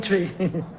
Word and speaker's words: Twi: him sure yeah man it's spelled twi but it pronounced tree i want good language